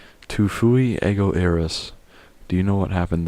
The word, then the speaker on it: ego eris: Tu fui ego eris. Weird writing. What was that? So we said it. Tu fui ego eris. Ego eris is the correct Latin pronunciation.